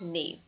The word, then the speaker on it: naive: Moving to the second word, and the spelling for the second word is naive and the pronunciation is nave.